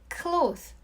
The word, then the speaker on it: cloth: 여기서 발음을 보면 clothes는 th 사운드로 끝나고 clothes는 th 사운드 없이 z 사운드로 끝내주세요.